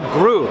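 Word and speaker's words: Groux: JL Gru, that's how you pronounce it. Gru. Gru. Depending where you're from. Okay. You can say Gru or Gru, but Gru is good. Gru, okay. I think I said Gro, so Gru.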